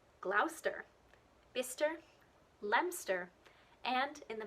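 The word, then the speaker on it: Gloucester: that end with c-e-s-t-e what you think might be pronounced as chester but is actually stir so you've got places like lester glauster bister lemster and in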